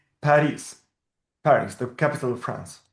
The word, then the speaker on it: Paris: We write baris because we don't have any other possibility. We read bis or we read Paris.